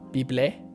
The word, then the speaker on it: Beeble: It's actually Beeble is the right way to say it.